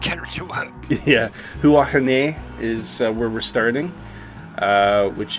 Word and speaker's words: Huahine: Looks, I tried pronouncing it and I couldn't get it to work. Yeah, Huahine is where we're starting, which is the Maohai people.